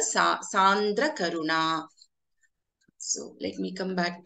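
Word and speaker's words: सान्द्रकरुणा: So the second word in the second line is Sandra Karuna. It is not Chandra Karuna or Chandra Karuna. It is Sandra Karuna. It is Sa. It is a let. Let is the letter Sa. Sandra Karuna.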